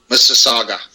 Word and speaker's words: Mississauga: How do you pronounce that? Mississauga? Yeah. Mississauga.